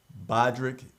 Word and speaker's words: Bodrick: Uh, Bodrick is how you say Ali's name, Ali Bodrick.